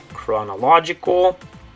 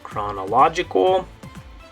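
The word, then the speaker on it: cronológica: a hard C Sound chronological in Spanish it's going to be spelled with just a hard C no h in it chronologica to English chronological and Spanish chronologica and one last one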